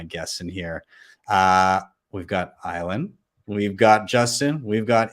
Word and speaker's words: Ayelen: I had to get creative over the years with how to say my name. So you have two options. You can either think of violin without a V, or the letters ILN and say it very fast.